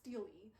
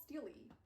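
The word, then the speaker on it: stele: Apparently it's pronounced steely. I've been listening to the audio books for the mortal instruments and apparently it's called steelely.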